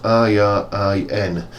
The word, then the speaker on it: Irin: I think that's how it's pronounced, I-R-I-N, Irin.